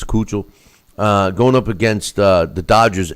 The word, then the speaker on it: Keuchel: I know it's not Keuchel, but I think it's Keuchel.